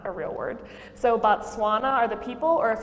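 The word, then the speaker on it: Batswana: So the people of Botswana are called Botswana, which sounds the same, but as you can visually see, it's spelled differently.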